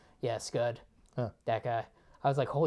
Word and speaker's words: Scud: Scud, that's right, because it rhymes with stud. Yeah, Scud.